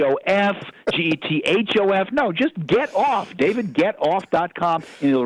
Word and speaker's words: Getoff: the website is David get-off calm and as that's my name they don't automatically assume that get off is spelled GE t get o FF off they assume if it's